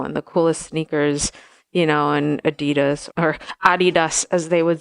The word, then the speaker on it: Adidas: I was either going to go with the American Adidas or go with Adidas and not say it properly.